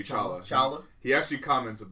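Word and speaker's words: T'Challa: comic book fact um the te and his name is silent tchala oh is it it's actually chalaa he actually comments like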